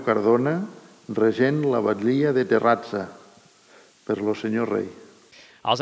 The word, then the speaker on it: Terrassa: Terrassa es pronunciava amb la E no neutra i amb la C trencada amb una forma diferent. S'hauria de dir Terrazza.